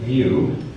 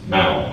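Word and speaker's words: Mouw: All right, at the end of this video, Richard Mew, I don't know how to pronounce his name, Mao, okay, he's a Mao Mao.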